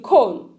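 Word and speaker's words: Köln: love living in cologne in cologne cologne con con sorry guys in con i want to pronounce it like germans these are the reason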